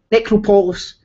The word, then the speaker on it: Necropolis: Necropolis. It's not Nick.